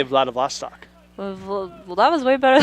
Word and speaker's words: Vladivostok: I butchered that. Maybe give like a hyphenated, like, how to say I'd it. say Vladivostok.